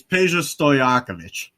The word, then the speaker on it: Peja Stojakovic: I was about to say, do you know how to pronounce it? It's easier than you think. It's Peja Stojakovic.